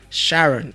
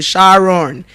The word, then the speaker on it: Sharon: Sharon. It's pronounced as what?